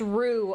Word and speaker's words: roux: Pronounced roux. Ah, sorry. The O is like that sound, the O-U-X.